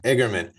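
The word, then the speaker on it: Eigerman: igerman is that how you say it yeah igerman about Boon still being alive Decker is trying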